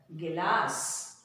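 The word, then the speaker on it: गिलास: As usual, the last letter without matra. So, sa is ghee, la, sa. Gilas.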